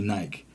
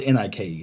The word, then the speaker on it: Nike: Yeah, there's a whole debate down there that they pronounce Nike Nike. Because B I K E spells what? Bike. Yeah. So, what would N I K E spell? Nike.